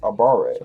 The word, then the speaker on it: abare: Pronounced Abare. At least by English speakers.